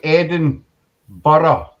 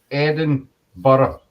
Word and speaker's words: Edinburgh: It's Eden. Say Edinburgh. Edinburgh. It's actually two different names. The Eden, I'm sure, dates back to the Roman times, and borough means district, basically.